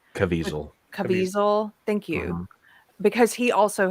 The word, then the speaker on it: Caviezel: Caviezel.